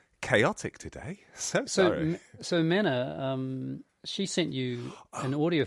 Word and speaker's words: Mena: I'm sure Simon will nudge you in the right direction, but a heads up that my name is pronounced Mena, as in men and women. Mena, not Mina. Mena.